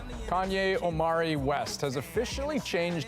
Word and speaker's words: Kanye: Now all I need is y'all to pronounce my name is Kanye, but some of my plastics still say Kane. Kanye Omari West has officially changed his name.